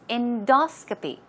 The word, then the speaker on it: endoscopy: Now, pronunciation, stress goes right there on the second syllable. It's endoscopy.